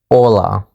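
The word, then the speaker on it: Hola: in Spanish part two hello Ola is actually pronounced Ola in Spanish yes we did cover that in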